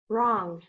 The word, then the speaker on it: wrong: W-R, silent W, the word is wrong.